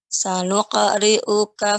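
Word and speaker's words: سنقرئك: qaf ya pada qalqalah pada huruf qaf ya tetap tidak boleh ya adanya hamzah pada akhir ketika mengqalqalahkannya. Sanuqri'uka fala tansa. Bukan bukan. Akan tapi sanuqri'uka. Mm-mm.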